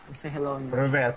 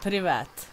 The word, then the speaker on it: Привет: Привет. Привет. Привет. Привет. Yes, привет. Сука, бля. Привет. Привет. No, they are lying привет. To you. Привет. It's сука, бля. No, it's привет.